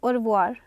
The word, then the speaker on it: au revoir: It's au revoir. Au revoir. The sound is o. AU sound here is o.